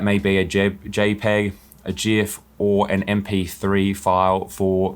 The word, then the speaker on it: GIF: nfts they're more than just a jpeg or jif and i'm saying jif here because the creator